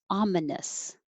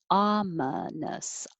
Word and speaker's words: ominous: And number 8, ominous. Ominous. Ominous. And that's the same stress pattern as custody.